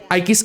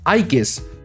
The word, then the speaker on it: Aigis: Her original Japanese name is officially written as Eegis referencing the mythological shield of Athena. However, the Japanese pronunciation resemble Aigis which led to the English localization adopting that spelling.